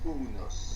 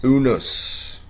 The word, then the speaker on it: Unus: So yeah, and it's pronounced Unus. Unus. Yeah, Unus. You need to stretch the first letters. Yeah, that's true. Actually, we double checked, triple checked the pronunciation because it's Latin.